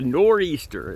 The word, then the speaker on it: Nor'easter: right now um so this is the nor the nor Easter that's how it's pronounced uh that we got here in the